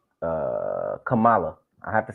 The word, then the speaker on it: Kamala: it wrong and and when somebody told me how to say it right uh they was like think Masala but anyway uh she had